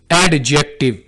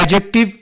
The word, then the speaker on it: adjective: इसको कैसे बोलना है इसको आपने ऐसे नहीं बोलना एडजेक्टिव यहां पर हमने डी को थोड़ा सा साइलेंट रख के बोलना है एडजेक्टिव एंड इट्स टाइप्स यानी